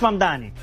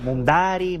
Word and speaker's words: Mamdani: Nadie sabe pronunciar mi apellido. Es Mamdani, pero a cada rato me dicen Mundari, Mumnari.